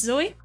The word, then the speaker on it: Zoe: How do you pronounce my name? It's Zoe?